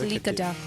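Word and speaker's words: Likadik: It's pronounced Lickadick. Lickadick. Okay, so Susan Lickadick? Lickadick, but people, I mean, if you read it with like, regular English, you could just say Lickadick.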